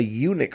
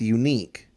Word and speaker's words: UNIQ: Now, I thought it would have been pronounced unique. Mm-hmm. Like someone saying, oh, it's ugly. Yeah, it's one of a but kind. But it's also unique. But I was corrected by a table full of vegans, so I believe them. Because fruit is kind of their thing. Their domain. They've studied it. They're the scholars. Yes. So they said eunuch, which is also funny